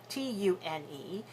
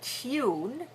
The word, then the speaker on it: tune: okay another word tune t u n e this word has two pronunciations one is with a e in front of it tune which is more British and tune which is more American so let's practice the